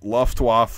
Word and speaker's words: Luftwaffe: through this video is the W in German does not make a W sound like it does in English, the W, you know, water or whatever.